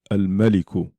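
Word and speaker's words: الملك: So mim is one of the 14 letters where if it comes after the lam in al, you pronounce the lam. So al-maliku, the king, al-maliku.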